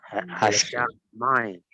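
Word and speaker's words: הַשָּׁמַיִם: Por eso la pronunciación va a ser Hashamain, Hashamain, no Hashamain, sino Hashamain. ¿Ya? Se va a cargar acá, se va a duplicar el sonido. Se carga en la shin.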